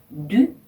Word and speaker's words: du: 네, du 발음에 주의를 하셔야 되는데요. 프랑스어의 u 그러니까 영어의 u죠. u라고 있는데요. 이 u 발음은요. 입술 모양을 우 한 상태에서 이 소리를 내면 발성되는 소리입니다. 그래서 u라고 한 번에 발음하셔야 돼요. 앞에 대 자음이랑 같이 발음하시면 du 이렇게 발음하시게 되는 거죠.